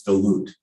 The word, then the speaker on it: Duluth: and from that area it's dilute yeah the h is silent but there's a lot